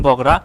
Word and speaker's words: বগুড়া: ইংরেজি উচ্চারণ বগড়া হলেও বাংলায় কালের বিবর্তনে নামটি পরিবর্তন হয়ে বগুড়া শব্দে পরিচিত পেয়েছে।